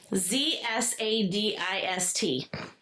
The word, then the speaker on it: Zadist: Z A D I S T. How sadist. This is pronounced Zadist with a Z.